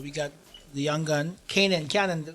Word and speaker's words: Canaan: But we got the young gun, Canaan. How do we pronounce this? Canaan.